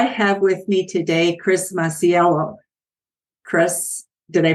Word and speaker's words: Masiello: legacy podcast I have with me today Chris maciello Chris did I pronounce it correctly you did well it's great